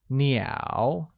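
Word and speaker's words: 鸟: yo Santorini ow where Nia meaning Birds is pronounced with a falling rising tone let's see the next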